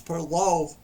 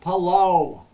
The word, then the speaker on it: Palou: So anyways, after all the cautions and the spinouts and it was Indy 500 winner Alex Palou. He took the checkers, and I just said his name wrong. Alex Palou.